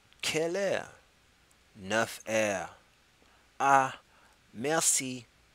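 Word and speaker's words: merci: air enough air aah messy messy is how you say thank you all right so we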